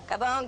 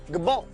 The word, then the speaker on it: Gabon: name of the country gabon gabon who knows some people say Gabon some people say gabone the French say gabone so I'm going with the French only I'm adding the